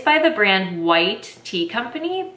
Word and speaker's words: Wight: it's by the brand white tea company but it's spelled w-i-g-h-t so like white as like maybe a last name or something not like white tea the tea type but it says a